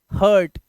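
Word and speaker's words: hurt: तो र्ट नहीं पढ़ना है अ का साउंड हर्ट ऐसे यू के बाद आ र आया तो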